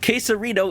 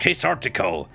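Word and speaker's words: Quasartico: So, you and I got to head to case queserto, Inc. office. I refuse to learn what that's actually called. Menock. What? It's pronounced quesartico.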